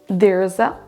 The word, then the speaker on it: there's: There's a big house. On prononcera à peine en fait le verbe être et la préposition a. On ne dit pas there is a big house, mais there's a big house.